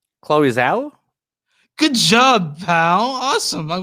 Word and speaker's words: Chloe Zhao: I want you to try to pronounce the director's name. Chloe Zhao?